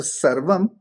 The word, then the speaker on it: Sarvam: Only problem is people call it Ram to Rama, R-A-M-A. Why? Because, Yeah, Rama. but if you see the right pronunciation is Ram. So Sarvam, the V is not a full sound.